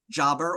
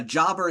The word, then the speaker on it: jobber: Next up, what connects Haas, heel, jobber, or jober, and mechanic? I believe these are like descriptions of people's roles in professional wrestling. That is correct. And also, it's not pronounced jober.